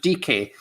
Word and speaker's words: Dike: Here you go, Daryl Dike, or I think someone said he's pronounced Dike.